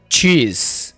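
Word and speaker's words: cheese: चीज कहा जाता है यहां पर एस जड की साउंड देगा ठीक है चीज चीज अंडे को इंग्लिश में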